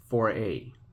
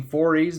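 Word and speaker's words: forêt: Nothing, and I named the French lady, I named her the French word for forest, like the trees. So I think it's pronounced Foray.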